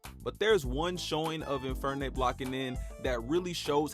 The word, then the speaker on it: Infernape: Infirme. I'm sorry, Infirme? I can't pronounce the name. My bad. I'm sorry. Infernape.